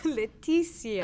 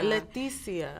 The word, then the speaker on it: Letizia: pronounce your first name is it Leticia or Leticia Leticia as if it were an S yes I always like